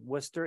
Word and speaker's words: Worcester: be with you um I always pretend that the r in Worcester is silenced that's my way of remembering how to pronounce it uh both of them